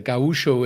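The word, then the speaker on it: gaúcho: it's a gaucho pizza gawusho is actually the right way to say it and it's uh gaucho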